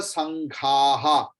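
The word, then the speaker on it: सङ्घाः: Then Gandharva Yaksha Surasiddha Sanghaha. Sangha के बाद भी विसर्ग आएगा.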